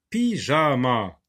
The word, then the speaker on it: pyjama: P avec Y, ça se lit pi.